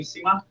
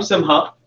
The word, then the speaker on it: Simha: I'm sorry if I mispronounced that. So I'm Simha. Hi, Simha. Hi, everyone. Hard. Okay. Eventually, somebody will figure it out. Just by Simha. Don't forget it. You say it like it's spelled.